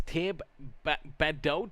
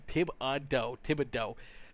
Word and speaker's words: Thibodeau: As Caitlin Taylor says, it's Thibodeau. That's how you say it. Okay, there we go. Thibodeau.